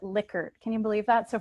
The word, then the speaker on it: Likert: to N scale so it's actually someone's name and they pronounce it liquor can you believe that so for years you've been saying lyker items or lyer scale